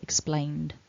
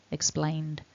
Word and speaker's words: explained: tack on the end, explained, explained, so that needs to be voiced.